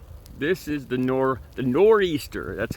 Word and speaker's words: Nor'easter: right now um so this is the nor the nor Easter that's how it's pronounced uh that we got here in the